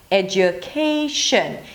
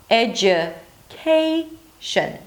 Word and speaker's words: education: Primary stress right after is 'KEI'. And then you drop again to 'sh'n' 'sh'n' It's a Schwa. So don't pronounce it as 'shion'. It is not French. 'eh-dju-KEI-sh'n' If it's difficult for